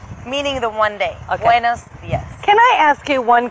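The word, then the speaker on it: buenos días: Is it buenos dia or buenos dias? It's buenos dias plural.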